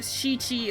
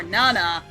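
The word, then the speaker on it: 七: it sounds like death seven is pronounced either chichi or Nana with chichi sounding like that so the answer is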